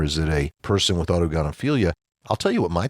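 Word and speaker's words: autogynephilia: But on the flip side, there's also something called, I believe you said autogonophilia. Did I pronounce that correctly?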